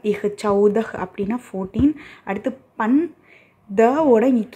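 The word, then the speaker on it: चौदह: அடுத்து சாவோட அவு சிம்பல் இருக்குது, சவ் த இஹ் சவுதஹ் அப்படின்னா 14.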